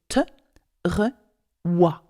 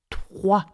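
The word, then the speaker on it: trois: So if you want to pronounce 3 properly, pronounce it te, re, wa, with a wa sound. So te, re, wa, te, re, wa, 3.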